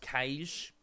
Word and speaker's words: Cache: It's pronounced Kaish.